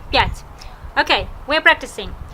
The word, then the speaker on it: пять: Пять. Let's read together. Один. Два. Три. Четыре. Пять. Now you read it. I'm waiting. Pause the video and read it. Okay. Один, два, три, четыре, пять.